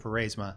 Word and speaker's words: Pharasma: So in the intro, the survivor, Pharasma, or as you might pronounce it, Pharasma, thank you, was observing